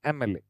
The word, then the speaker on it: MLA: When you pronounce M, the first sound that comes is which is a vowel sound, MLA.